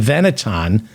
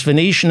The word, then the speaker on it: Venetian: the Venetian or the veneton to hear a man-child who thinks Venetian is pronounced veneton they're paying money to